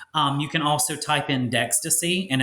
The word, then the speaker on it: Dextaci: You can also type in Dextaci, and it's not spelled like ecstasy with a D, but it's Dextaci. Dextaci.